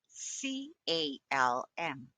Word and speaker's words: calm: When the letters LM are found at the end of the word, the L can be silent. M. M C A L M C A C C cal Arms SQL and bomb.